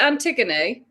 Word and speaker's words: Antigone: Oh, is it Antigone?